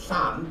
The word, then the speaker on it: Llan: So even that sound doesn't exist in any of the other Celtic languages. So that's the one that is almost impossible for non-Welsh people to pronounce. But it's actually a very common sound in Welsh because Llan, L-L-A-N, means church, and there are a lot of place names that start Llan something.